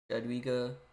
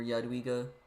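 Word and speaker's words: Jadwiga: will finish up the JGA or yadwiga you want to be more correct on the pronunciation but English dad WEA uh the Polish Lithuanian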